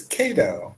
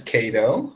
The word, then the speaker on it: Kado: thank you so much and how can I pronounce your name it's KO or you're absolutely correct it's KO yes so you're right my name is KO very simple short name is it okay am